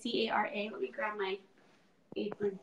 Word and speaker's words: Maskcara: So mascara, first off, it's Maskcara.